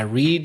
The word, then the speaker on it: read: the verb to read I read read read sounds the same as the color red but of course there